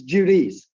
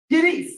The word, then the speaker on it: Judice: but he wants to give you the correct pronunciation it's Jud say it again however you like it's judice judice okay okay judice Jude judice okay I have